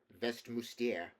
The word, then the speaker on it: Westminster: She pronounced it Westmuster, in the French manner.